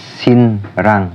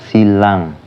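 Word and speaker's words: 신랑: Terus contoh yang kedua, jika real ketemu dengan nian, yaitu sinrang, tulisannya sinrang tapi bacanya silang yang artinya mempelai pria.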